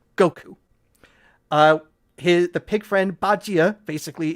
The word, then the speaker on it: Goku: for quite a while, because Wukong in Japanese is pronounced Goku.